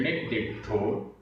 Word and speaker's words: णिदिट्ठो: उच्चारण णिदिट्ठो, णिदिट्ठो, इसमें आधा दा, पूरा दा, छोटी ई की मात्रा, फिर आधा ट, ठ और ओ की मात्रा।